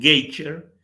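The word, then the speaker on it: Gauger: No quiero ser injusto porque hay otros que han colaborado y mucho, como Anne Gouget, lo pronuncio en francés porque en Estados Unidos en Geiger, y Jonathan Wells, entre otros.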